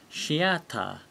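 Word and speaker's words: シアター: word in english theater shiata because there's no th sound in japanese remember and let's have a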